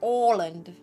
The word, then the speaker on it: Åland: The open dot for the on top of an A. In like Swedish and stuff, it's pronounced all. It's like an all sound. So it's Åland, for example, for that specific island.